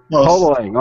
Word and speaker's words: Hotaling: a guest all the way from Connecticut, Hotaling. Did I say it right? Hotaling. Hotaling.